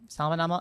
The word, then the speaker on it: salmonella: Not the same as salmon, which is weird.